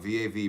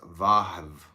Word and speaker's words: Vav: Comment on Vav, V-A-V, pronounced Vav, Vav.